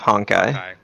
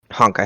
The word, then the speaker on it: Honkai: right technically CU you still have honai not honai star rail but honkai hon H hon but